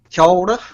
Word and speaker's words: kia ora: Well, that is correct, and it's kia ora is how it's pronounced.